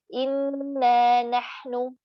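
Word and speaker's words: إِنَّا نَحْنُ: Contoh, kita harusnya membacanya inna nahnu. Inna nahnu. 2 naknya. 2 harokat, 2 ketuk. Ya. Kita bacanya inna nahnu. Kita membuang huruf dan ini lahannya jali.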